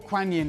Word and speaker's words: Guan Yin: So the Lady Gwyn, Guan Yin, yeah. Or Kuan Yin, it's spelled in two different ways with a K or a G, but yes, she is the goddess of mercy and compassion, and this incredible being.